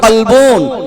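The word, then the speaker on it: كلب: জানে তারা বুঝতে পারবে আরবিতে কাপকে দুটো কাপ ব্যবহার করা হয়েছে একটা নোক্তা দিয়ে একটা নোক্তা না দিয়ে নোক্তা দিলে ওই কাপটার ওজন বেশি এইটা উচ্চারণ হবে কলবন মানে অন্তর জোরে বলুন না সুবহানাল্লাহ তাহলে একটা হল অন্তর আর একই জিনিসকে আপনি যদি হালকা করে পড়েন তখন হবে কালবন মানে হচ্ছে কুকুর আল্লাহর নবী বলেছেন হুজুরের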